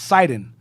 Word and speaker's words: Sidon: It's pronounced Tyre, and Sidon is pronounced Sidon.